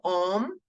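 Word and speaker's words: homme: om not home no h will be silent so om for men farm for wom om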